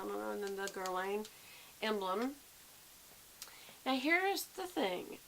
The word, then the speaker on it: Guerlain: People call it Guerlain, but I think it's Guerlain. Guerlain. That's what it is. The I isn't pronounced it.